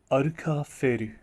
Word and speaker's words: アルカンフェル: Yup, in his Japanese pronunciation, this is pronounced as Aruka-feru.